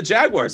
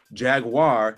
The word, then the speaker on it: Jaguar: I'm in London again there's three ways to go from the most ignorant to the most uh impressive way to say that word Jaguar Jaguar and jaguar that's how they say it here it's so it's fascinating